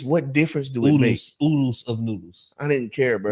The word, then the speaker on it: Oodles of Noodles: They are oodles and noodles or oodles of noodles since we found out the correct way to say it.